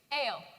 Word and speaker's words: Ale: bib hugo chloe aries ale like ginger ale oliver athena my name